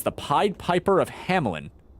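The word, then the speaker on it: Hamelin: pi Piper of Hamlin now it sometimes it's spelled with an i between the L and the N but you kind of pronounce it with an I even though there isn't one there anyway but I've also seen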